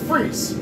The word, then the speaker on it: Friis: on my own name my last name is free very Danish and so